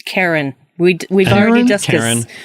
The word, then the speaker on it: Charon: episode for sure absolutely an Obol for Sarang it's Karen we don't we just